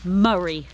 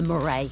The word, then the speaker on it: Moray: It's the Murray Trail, not the Moray Trail.